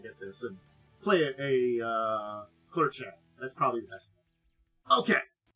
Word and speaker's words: Clurichaun: Okay, so Clurichaun. Thank you. I missed that I had information how to pronounce the name. Clurichaun.